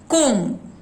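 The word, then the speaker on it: comb: नाउ नीचे कोम, lamb, थम। बी का साउंड ब साइलेंट है। कोम सुनाई पड़ता है, ब नहीं है।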